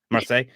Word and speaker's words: Marseille: Stockholm, Paris, Hong Kong, Marseille? Is that how you pronounce that one? Uninspired MAR, Marseille, France? Marseille.